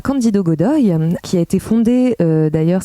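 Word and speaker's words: Cândido Godói: Donc on est à l'extrême sud du Brésil et en plus plus particulièrement dans le village de Candido Godoy. Ça, j'ai vérifié, c'est comme ça que ça se prononce.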